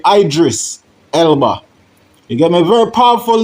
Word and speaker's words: Idris Elba: You see from the video um with a clipping of Idris Elba or some would pronounce him as Idris Elba. You know what I mean? But it's really Idris Elba.